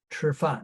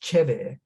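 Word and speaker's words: 吃饭: are there in Mandarin, standard Mandarin, which is based on Beijing dialect, is pronounced Chifan, but in other parts of China, it would be pronounced quite differently. For instance, in Shanghai, where I spent it's my main base in China, it's pronounced Cheve. In Taiwan or in southern Fujian province, which is opposite Taiwan, down here off the coast, it's pronounced Japeng.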